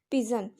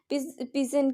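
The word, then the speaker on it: pidgin: पिजन, पिजन की इसमें D silent है, तो इसको पिजन के नाम से जाना गया क्योंकि ये काफ़ी सारी लैंग्वेजेस का मिक्सर था।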